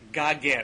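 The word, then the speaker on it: Geoghegan: Well, on important matters, it's pronounced Goggin. There you go. Tom Goggin. Goggin.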